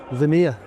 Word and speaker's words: Lemire: Our next guest is Lemire. Did I say that right? Yeah, you got it. Pronounce the French.